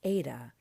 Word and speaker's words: eta: But this is actually a vowel, and it is pronounced like the A in wait.